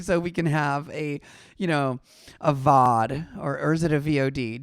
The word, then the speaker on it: VOD: One syllable VOD.